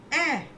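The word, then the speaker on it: heir: ए ई यू एच ऐसा sound आता है। ऐ मतलब एच जो है उसमें साइलेंट है। ई आई आर का आर भी साइलेंट है। ए बोलते हैं सिर्फ।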